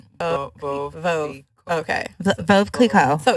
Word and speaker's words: Veuve Clicquot: And they said Veuve Clicquot. Veuve. Okay. Veuve Clicquot. So it's a Veuve Clicquot.